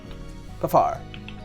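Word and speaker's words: Puphar: How do you spell that, Aaron? P-U-P-H-A-R. Pafar.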